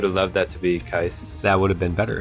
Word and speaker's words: Keiss: Keiss is nice. Keiss is crap right now. That's how I remember how to say his name.